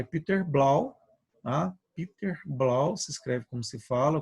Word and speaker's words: Blau: vai discutir isso é Peter blau A Hiper blau se escreve como se fala com o no final